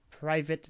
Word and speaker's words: Privet: eight private drive contains boxer voice literally how it's spelled private yeah no I figured it was privet Drive but I wasn't gonna risk it and sound like an idiot so I'm just going to say it how it is spelled that contains approximately 797